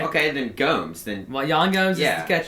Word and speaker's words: Gomes: Gomez, we definitely. That's not how you pronounce the name.